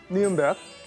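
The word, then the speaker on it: Nürnberg: 니른베르크 발음 맞나요?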